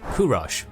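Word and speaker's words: Kūruš: This boy, known as Kurosh by Old Persian pronunciation, but to us as Cyrus, came into the world at the royal palace of Ecbatana in 600 BC.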